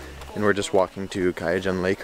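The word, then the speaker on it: Kayangan: All right, we are leaving our beach lunch spot now and we are gonna head towards the famous Kyagnan Lake. That's how the tour guide told me to pronounce it.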